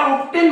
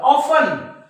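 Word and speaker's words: often: म्हणतात लिसेन आपलं लिसन तुम्ही याला ऑब्टेन म्हणतात का नाही ऑब्टेन नाही म्हणत तुम्ही त्याला ऑफन ऑफन बघा टी सायलेंट आहे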